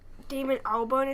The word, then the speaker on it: Damon Albarn: Damon Albarn is how you say Yeah.